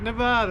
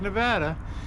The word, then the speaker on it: Nevada: After all, that's how Nevada really got put on the map, and that's the way you pronounce it. Don't call it Nevada, it's Nevada, with the discovery of the Comstock lode, and more silver was hauled out of there.